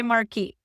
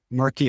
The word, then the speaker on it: marquee: But if you use the mar I don't know how to pronounce this. I've been in Sweden too long now. So in English we say marquee marquee.